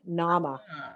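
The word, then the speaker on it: Naama: n-a-a-m-a say it again like like Mama but with an N Nama okay actually the Nama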